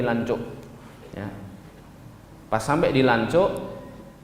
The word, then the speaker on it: Lanzhou: Ini bacanya bukan Lanzhou tapi Lancuk.